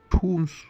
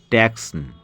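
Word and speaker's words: Tucson: সি এস ও এন অনেকে বলে ট্যাক্স আসলে ওটা টুস উচ্চারণ হবে আরিজোনা স্টেটে লোকটি বলল আমেরিকার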